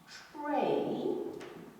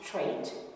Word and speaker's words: trait: gene for a particular characteristic or a particular tray is the same thing as a characteristic and the americans will pronounce it to trait but it's from the french and therefore it